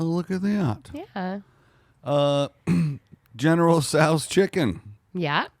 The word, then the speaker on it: Tso: General Tso's chicken. Yeah. Pronounced. Oh, that's so dumb. Pronounced TSWO. General Tso.